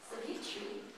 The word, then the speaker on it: Savitri: And they are going to be doing, it's pronounced Savitri, which is a tale of ancient India, adapted by Aaron Shepherd.